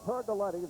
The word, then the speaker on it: Turgoletti: Turgoletti, that's how it's pronounced. Forget how it's spelled.